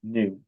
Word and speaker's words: nu: equal to lambda times nu. So this symbol here, I know it looks like a v, the symbol here. It really is nu. I'll spell that out for you-- nu, N-U.